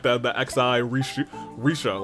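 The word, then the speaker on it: Rixia: We got uh Risha, which you know what? Chineseesque pronunciation. Thank you for that, Kakoma.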